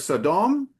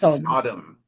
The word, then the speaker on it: Sodom: uh pronunc instead of Sodom, it's Sodom. So in English, often the emphasis comes up sooner.